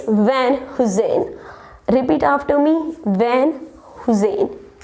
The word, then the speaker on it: Van Heusen: Yeah, it's look like Van Heusen, yeah, Hayuse, but it's not Van Hayuse or something else. It's Van Heusen.